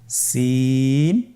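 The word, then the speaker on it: سين: বাকি দুইটি হরফ নাম হল সিন এবংশিন। সিন এবংশিন। সিন হরফটি উচ্চারণ ক্ষেত্রে অবশ্যই তিন আলিফ টেনে পড়তে হবে। সিন হরফটি বারিক হরফ পাতলা করে উচ্চারণ করতে হবে।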